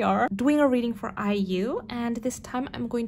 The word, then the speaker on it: IU: doing a reading for iu yay i'm finally saying her name right oh my goodness i've done i think it's two readings for her prior to this and in both readings i said her name wrong i said you so i'm so sorry